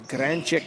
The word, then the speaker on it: Gransick: Talking to Coach Magic before the game, just looking for some pronunciations on some of these names, and the Croatian pronunciation of Gransick is Granchik, and he said he played soccer with Nathan's grandfather back in the day.